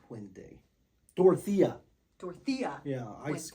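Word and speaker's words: Dorothea: dorothia dorothia yeah I I said Dorothy several times and there's a there's a t he EA at the end so it's dorthia pente you got to say it like that pente yeah I like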